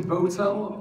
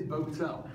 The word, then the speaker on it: Bowtell: name don't bother apparently it's actually botel all my life I've got used to people mispronounce it but it is Bo tell so I've been a